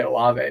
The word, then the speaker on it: Olave: I can say Olave, by the way. For those listening, I just don't like to because the first time I saw that, there was no way I was going to pronounce that Olave.